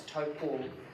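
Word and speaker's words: Taupō: it's short or long, the macron indicates that it's long. Which one? The longer the vowel, the macron goes. Yeah, the macron goes over if the pronunciation of the vowel is So long, it's a long rather than short, toe. so it's Taupo.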